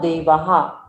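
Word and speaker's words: देवाः: न देवा, इसमें 2 बिंदु आगे है, ह का उच्चारण जरूर आएगा। न देवहा, पढ़ लीजिए सभी लोग।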